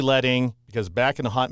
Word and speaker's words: leading: It looks like the word, if you've never seen it before, it's spelled L E A D I N G. So, it looks like the word leading, but it's actually letting because back in the